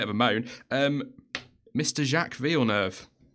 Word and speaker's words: Villeneuve: Jacques Villeneuve. It rhymes with trick. Yeah, trick all the way.